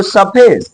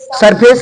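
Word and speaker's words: surface: क्या बोलेंगे बिल्डिंग बोलेंगे इसको सफेस सफेस सरफेस नहीं पूरा रा नहीं सरफेस दिस इज अ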